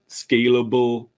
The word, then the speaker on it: scalable: is essential for creating scalable, maintainable web applications. Careful with the pronunciation of scalable, because you will have to scale, but scalable is the soft syllable.